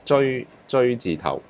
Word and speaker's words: 隹字頭: So this is pronounced 追字頭.